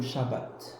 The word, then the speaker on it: shabbat: peuple juif jusqu'à aujourd'hui observe le shabbat c'est la prononciation chez les Juifs hein c'est la prononciation originale et bien Dieu n'a